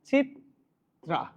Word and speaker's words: চিত্রা: দেখেন এটার উচ্চারণটা হচ্ছে চিত্রা।